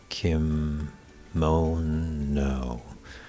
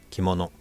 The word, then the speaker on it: kimono: of the word kimono so in english maybe probably the case in tagalog too maybe but it's like kim no so kim it's kim consonant vowel consonant moon m-o-n and no so each syllable carries three sounds a constant vowel consonant in japanese it's a lot more uh crisp and choppy so it's really kimono like a ki so